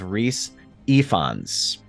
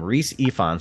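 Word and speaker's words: Rhys Ifans: pronounce this name but his name is Rhys ephons so that's how you actually say his name Rhys ephons and he plays Otto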